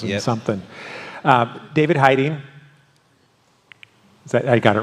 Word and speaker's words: Heyting: there you got to drop a number of syllables and something um David Heiden is that I got it right you got